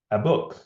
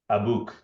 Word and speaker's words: Abuk: no active listening um I said a book no aook abuk abuk yeah amazing um sorry um